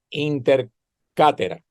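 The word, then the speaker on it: Inter caetera: la bula la bula se llama intercera se escribe intercaetera la pueden conseguir en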